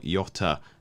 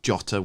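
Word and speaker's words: Jota: Jesus and Isaac but I like Yota uh sorry jotter we have to pronounce it correctly we've been we've been uh bombarded so many times when we said it incorrectly um Fulham up next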